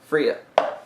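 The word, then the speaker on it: Frigga: gonna say her name Friga Fria Fria there's but two there's two G's um G's are like there's they're silent it sounds like Freya it's north it's north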